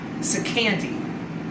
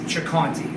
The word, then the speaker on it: Ciccanti: jocanti it's spelled c-i-c-c-a-n-t-i in italian the ci is a ch sound so if you guys are wondering when you see the spelling why is it not so candy could be in it in the way americans say it and we have no problem with that but the proper way of saying it is chakanti the last thing and